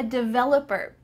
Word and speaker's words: developer: I'm a developer. I'm a web developer. Make sure that when you pronounce this, that V has some vibration here.